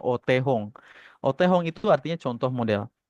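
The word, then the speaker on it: お手本: Yang sebelah kiri yang kanji huruf kanji gede itu bacanya Otehong.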